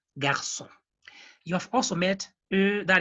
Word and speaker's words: garçon: So whenever you see that accent hanging below letter C, you know, actually it is modifying letter C to have the sound of double S. So we pronounce it like garçon.